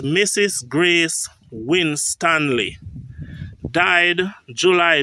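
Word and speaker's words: Juley: This time this July is spelled with E.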